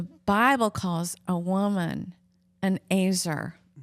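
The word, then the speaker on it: ezer: the Bible calls a woman an azer. It's spelled E-Z-E-R, but it sounds like a razor.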